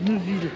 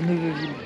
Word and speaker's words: Neuveville: Alors ça s'écrit la Neuveville, mais je crois qu'ils disent que la Neuville. On est grillé si on dit la Neuveville.